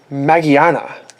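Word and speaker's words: Magearna: Oh, and Magiana EX, or Magiana EX. Magiana is the Japanese pronunciation for it, but based on gears and the romanization, they call it Magiana EX here, so you call it whatever you like.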